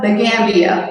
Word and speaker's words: Gambia: I'm coming to you live from sunny West Africa, the Gambia, West Africa. So it's what you're in West Africa.